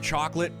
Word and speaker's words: Chocolat: I've never watched Chocolate, and I know it's pronounced Chocolat, but it's just not my cup of tea.